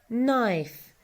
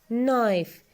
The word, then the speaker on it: knife: gloss metal stone spoon bottle jug folk one knife knife K is silent state a state Y collection collection objects